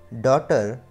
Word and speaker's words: daughter: Then number 2, neighbor, daughter, fight, straight. And the silent letter is GH.